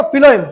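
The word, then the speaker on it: phloem: देखो फिलोएम, जब हम इसे रीड करते हैं, फिलोएम को जब हम इसे रीड करते हैं तो इसका जो इसका प्रोनाउंसिएशन होता है वो एफ से आता है, फिलोएम, और फूड भी आता है एफ से।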